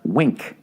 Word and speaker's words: Winc: __ ] point wink winc for some reason pronounced wink when you have a